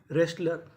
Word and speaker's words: wrestler: Right, written, wrong, रेस्लर। तो rule क्या था? अगर आपको आर से पहले डब्ल्यू लिखा मिले तो हमें डब्ल्यू का उच्चारण नहीं करना।